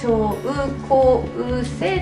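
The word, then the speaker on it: 症候性: 症候性と読みますが、症状の症、病気のことですね。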